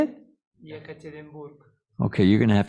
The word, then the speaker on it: Yekaterinburg: Yekaterinburg.